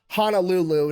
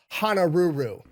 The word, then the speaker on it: Honolulu: So Guy yells out Honolulu, knowing that a Japanese person trying to copy English would pronounce it Hanaruru.